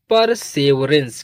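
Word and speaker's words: perseverance: और ई लास्ट में है तो इ का प्रोनंसिएशन नहीं होता। जिन वर्ड मीनिंग के लास्ट में इ आता है उसका प्रोनंसिएशन यानी उसको नहीं प्रोनाउंस करते।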